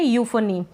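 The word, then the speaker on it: euphony: इसको पढ़ रहे हैं यूफोनी क्या पढ़ रहे हैं यूफोनी अब आप कहेंगे पीएच को फ क्यों पढ़ रहे हैं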